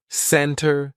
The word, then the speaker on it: center: the silent T usually if the t comes after an N we drop that t and we do not pronounce it Center Center no it's not center it's almost like we're spelling it c n n r Center I'll meet you